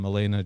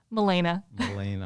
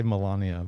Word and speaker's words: Melaina: So today we're here talking to Joan and Melaina, sorry. I want to say Melania, but I know that. Yeah, everyone seems to want to say that.